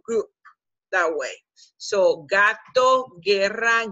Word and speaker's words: guerra: So combination G-U-E, combination G-U-I, the U doesn't sound, and you pronounce it with a g sound.